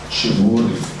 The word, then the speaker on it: Xivuri: I know people have difficulties in pronouncing my surname is Xivuri.